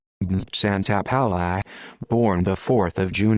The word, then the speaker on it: Santapaola: benedetto santa paula italian pronunciation santa palace born the fourth of june 1938 better known